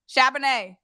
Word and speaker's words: Charbonnet: Charbonnet. Champagne. All right. So Zach Charbonnet, right?